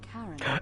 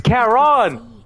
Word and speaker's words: Charon: The name you heard wasn't Karen. It's Charon! C-H-A-R-O-N. Oh my god, ik wist dat het Charon was. Of Ferryman Hades. of the dead. Nice. Charon, who in exchange for